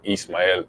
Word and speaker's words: Ismael: latin american heritage yeah um my name is but in spanish it's actually um east miami so there's no h so that's why this